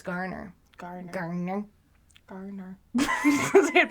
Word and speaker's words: Garner: Gardner? Did you know that? It's Garner.